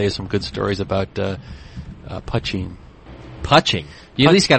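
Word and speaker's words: poitín: Is that how you say it? I thought it was poutine. No, Pucheen.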